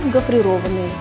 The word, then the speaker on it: гофрированный: При этом ударение падает на гласную «о». Правильно говорить «глазированный», «пломбированный», «гофрированный». На этом у меня все.